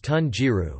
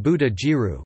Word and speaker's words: 豚汁: In some cases multiple readings are common, as in tunji, pork soup, which is commonly pronounced both as tun jiru mixed on kun and buddha jiru kun kun, with tun somewhat more common nationally.